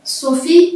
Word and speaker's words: Sophie: Sophie, il y a E à la fin, lettre muette. Sophie, S majuscule O, P-H-I-E. Sophie, on l'écrit avec une lettre majuscule car c'est un prénom de fille.